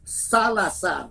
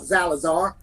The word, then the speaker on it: Salazar: They're more expensive than a Latina, but I always tell her it's pronounced Salazar, not Zalazar.